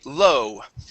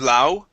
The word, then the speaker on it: low: so um this is going to be low instead of La it is low in